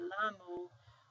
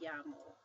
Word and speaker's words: llamo: So whenever you see two L's together, you pronounce it like a Y.